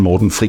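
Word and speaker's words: Morten Friis: The two guys who are behind Safri Duo are, and I hope I pronounce this right, Uffe Safri and Morten Fries. Yes, so it's Uffe Safri and Morten Fries.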